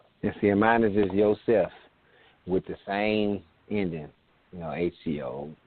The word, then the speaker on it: Yosef: Because like I said, a lot of times people would think the PH because we come from America, but I made it very easy phonetically. So spell it just like you would hear it, basically.